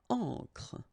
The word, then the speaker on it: encre: Okay, so une encre and une encre, it's the same.